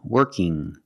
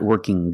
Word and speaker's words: working: young strong and working when you have iing at the end it makes a sound working not working G there's no G sound it's the sound working now sometimes when you